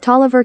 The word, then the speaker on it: Taliaferro: that taliafero County Georgia Toliver County Tolliver does Georgia just not believe in pronouncing the final vowel in a word let me know what